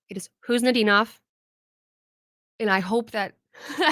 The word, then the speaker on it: Khusnutdinov: Previously, I was saying Kuznetsov. I was wrong. I thought I had it right. I was wrong. You do not pronounce the K. It is Kuznetsov, and I hope that